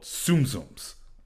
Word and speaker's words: Tsum Tsum: it's a game called Tsum zooms um it's spelled Tsum Tsum pronounced like zoom zoom but tum tum Tsum